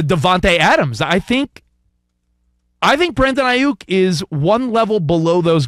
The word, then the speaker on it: Aiyuk: My first thought is you say Aiyuk, and you really lean into it. And there's a lot of people say Aiyuk. Yeah, they're saying it wrong.